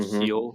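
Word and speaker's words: Gil: say it's G but I think it's pronounced like heel or H he's this pitcher for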